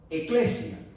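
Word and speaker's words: ἐκκλησία: El término eclesia, así se pronunciaba, ¿verdad?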